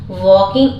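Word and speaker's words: walking: scene दिख रही है वॉकिंग मतलब चल रही है वॉक में आई एनजी जुड़ा हुआ वकिंग आप ये देख सकते हैं एल इस में भी साइलेंट इन वो तो ग्रिल्ड हरिडली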